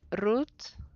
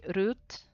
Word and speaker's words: Ruth: Depending on the countries where I have lived, is pronounced different. So in Mexico, they say Ruth. In Sweden, they say Ruth. In Germany, they say Ruth.